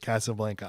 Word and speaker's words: Casablanca: There's so much to dive into here with Casablanca.